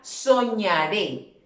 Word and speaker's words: soñaré: Entonces, para el caso, la palabra soñaré, lo separé en sílabas. Soñaré, soñaré. ¿Dónde recae la fuerza de la voz? Muy bien, en la última sílaba.